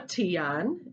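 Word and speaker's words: tignon: red headdress so um the head dress is called a tian it's spelled t-i-g-n-o-n but the g the the g and the first n are silent so marie laveau was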